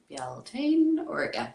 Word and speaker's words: Bealtaine: And actually how to pronounce it, because a lot of people maybe would have seen it written out and kind of going Bealtaine So Bealtaine is an Irish word, the Irish